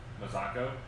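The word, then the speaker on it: Mazzocco: Ridge versus the Mazzacco. Is that how you pronounce it?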